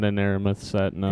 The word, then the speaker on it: Aramith: Not an Aramith set, no. Aeromith. I always mispronounce that. I call them the Aerosmith balls.